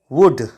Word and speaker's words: would: इस वर्ड में भी यू के बाद एल आया है और एल साइलेंट होगा, इसीलिए हम इसको पढ़ते हैं वुड।